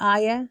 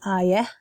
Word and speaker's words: ayah: Again, so with ayah, I would say ayah. So I have a softer H sound at the end, whereas in Lebanese Arabic, pronunciation, it's ayah. So there's a stop at the A.